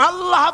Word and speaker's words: আল্লাহ: উচ্চারণ হচ্ছে আল্লাহ আল্লাহ মুখটা একটু গোল হয়ে যাবে বলেন আল্লাহ আল্লাহ সুবহানাল্লাহ পৃথিবীতে বিভিন্ন